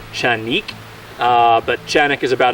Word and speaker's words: Canik: this is the chanic actually it's Turkish is pronounced chanik uh but chanic is about as close as I'm going to get consistently not canic not Sanic it's chanic or chenik uh this is the tp9 sa it's the